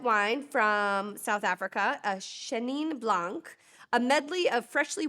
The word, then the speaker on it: Chenin: Chenin. It's like chenille.